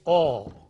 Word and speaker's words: or: So there, for the sake of conveying that meaning, you stress and then use the full form. Take the other one, or, another conjunction. The full form is or, but the weak form is a.